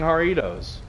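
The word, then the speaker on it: Jarritos: times uh someone's buying haritos it's the one spelled with J it's a Mexican soda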